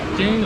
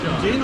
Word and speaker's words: Jain: (‘Ja-in’ - X, ’Je-in‘ - O) उच्चारण ‘Je-in’ है, ठीक है, कृपया जैन विकल्प